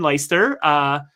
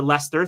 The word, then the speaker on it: Leicester: They just had someone go to Feyenoord, who ultimately finds himself in Leicester, or Leicester. Thank you. My pronunciation's not great.